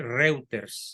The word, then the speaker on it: Reuters: Se escribe Reuters, se pronuncia Reuters.